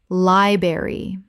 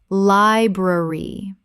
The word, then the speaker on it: library: February February Word three: library Common mispronunciation: liberry Correct pronunciation: library Both the R sounds must be present. This is a three-syllable word.